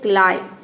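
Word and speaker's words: climb: काइलम का मतलब होता है एक, काइलम नहीं, ये है क्लाइम। यहाँ इसको हम प्रोनाउंस करते हैं क्लाइम। अब देखिए यहाँ पे बी साइलेंट है, यहाँ पे बी को हम प्रोनाउंस नहीं कर रहे हैं।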